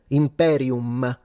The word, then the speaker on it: imperium: You pronounce the M imperium. You pronounce the M. The M is a nasal sound.